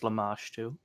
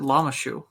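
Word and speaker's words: Lamashtu: Yeah, for some reason I always pronounce it Lamashu. Why? There's a T in there. I know. I just never particularly read it. I was just like, yeah, it's the shoe of a llama.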